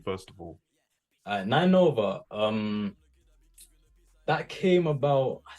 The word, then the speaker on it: 9NOVA: Nine Nova is the name, right? That's how it's pronounced.